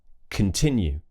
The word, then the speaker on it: continue: If it's an unstressed syllable, we'll use the schwa sound on that letter O. So it will be k, that's a schwa sound, relaxed mouth. Complain, continue, combine, combust.